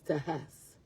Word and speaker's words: Tejas: And a lot of people don't know the way to pronounce like Mexico and Texas is Mexico. And then for Texas is Tejas.